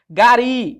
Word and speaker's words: gari: Gari. Gari, professor, a sílaba tônica é esse I aqui, ó. Seria um oxítono determinado em I.